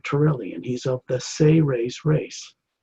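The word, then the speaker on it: Seres: His name is Ambassador Torelli, and he's of the Say-Rays race. It's spelled S-E-R-E-S in English, but it's pronounced as if it was spelled S-A-Y-R-A-Y-S, Say-Rays.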